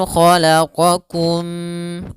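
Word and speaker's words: خلقكم: An khalaqakum, bedakan antara qa dan kaf. Qa-kum, khalaqakum min turab.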